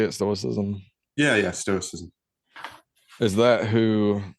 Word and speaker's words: Stoicism: Yeah, Stoicism.